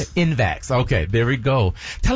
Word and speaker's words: InVax: InVax.